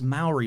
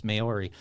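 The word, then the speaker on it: Māori: I think I God I thought it was Mai but everybody keeps telling me I'm pronouncing it wrong it's mayori chny the pomy please tell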